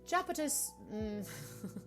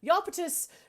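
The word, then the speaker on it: Japetus: 1856 the danish zoologist japanese that's not how you say his name that can't be how you say his name yapitus steden strip um japanese steen strip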